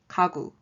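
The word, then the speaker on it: 가구: practice the first word is furniture and it's pronounced as kagu the second word is meat and it's pronounced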